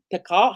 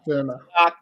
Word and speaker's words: Tilak: It's basically Tikal. How do I say his name? Tilak or Tikal? Boomerang, and it's not Boomerang. What am I talking about? Sorry, it's Rohit. Verma. Tilak, there we go.